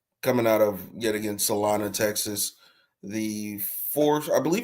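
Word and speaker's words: Celina: Bentley coming out of salana Texas um and yes it is salana even though it is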